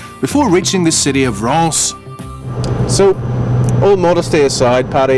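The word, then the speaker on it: Reims: off to you know then we're off to russ france in france it's pronounced rant spelt r-e-i-m-s isn't it that's right champagne territory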